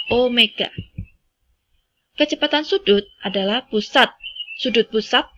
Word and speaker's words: omega: Besaran yang ketiga yaitu kecepatan sudut atau disimbolkan dengan omega, itu bacanya bukan W ya. Jadi bacanya adalah omega.